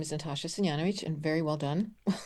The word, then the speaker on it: Senjanovic: So like you said, my name is Natasha Syanovich and very well done. I practiced prior um with the pronunciation.